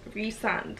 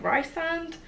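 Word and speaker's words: Rhysand: it I just say resand official pronunciation by Sarah J Maas was resand a lot of people like Rye sand or just plain Breeze I've just been saying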